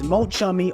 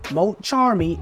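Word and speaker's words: Mulcharmy: fuas now confirming that the arch type once known as Mo chamy are now pronounced Mo Charmy and they are an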